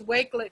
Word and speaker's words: Wakelet: do you spell it it's wakelet w wake like wake up w-a-k-e-l-e-t that but the flash cards is quiz let so like a quiz but led on the end we're gonna do wakelet at the end of